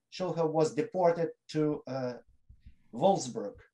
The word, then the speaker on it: Wolfsburg: was deported to uh wolfsburg uh the pronounced w fullsburg wolfsburg uh in june and and yes they deported and concentration camp he died there of tuberculosis in 1942.